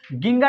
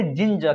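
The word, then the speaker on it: ginger: देखिए इसे गिंगर नहीं पढ़कर क्या पढ़ेंगे? जिंजर।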